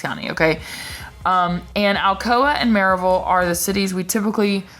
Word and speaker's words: Maryville: And Alcoa and Maryville are the cities we typically associate with Blount County. So you can go check out my Maryville videos. And that's right, I said Maryville, not Maryville.